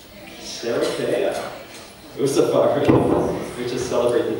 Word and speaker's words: Sherekea: celebrating the journey, and I have a, I brought in a translator at the last moment to coach me on the African pronunciation. So Sherekea, right? Sherekea.